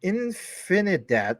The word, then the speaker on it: Infinidat: is neutrix clouds um excuse me infinidat that's the right way to pronounce it my bad is basically